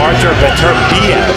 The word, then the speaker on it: Beterbiev: A fighter to watch out for is the #7 fighter, Artur Beterbiev.